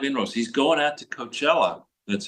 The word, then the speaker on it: Coachella: He's going out to Coachella, that's how you pronounce it, California, to do a rally.